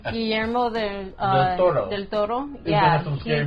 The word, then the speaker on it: Guillermo del Toro: Roll that R, bro.